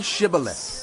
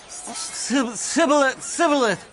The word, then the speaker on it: Shibboleth: If he replied, "No," they said, "All right, say Shibboleth." If he said, "Sibboleth," because he could not pronounce the word correctly, they seized him and killed him at the fords of the Jordan.